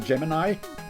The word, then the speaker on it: Gemini: When I was a kid, I didn't know how to pronounce it. I would call him Gemini Man. It's actually Gemini.